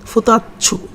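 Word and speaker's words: 二つ: আবার যদি আসি যে দুইটা জিনিস, ফুতাচ্ছু, মানে এরকম যে দুইটা জিনিস, 2 তারপর হচ্ছে সু, তাহলে উচ্চারণটা কী হবে, ফুতাচ্ছু, ফুতাচ্ছু, ফুতাচ্ছু, ফুতাচ্ছু, ফুতাচ্ছ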